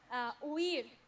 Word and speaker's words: huir: Huir, to flee. Huir. Huir. Huir. How do you say it? Huir. Huir. Huir. No. Huir. No. Huir. No. Huir. Very good. Just remember the difference between these two vowels.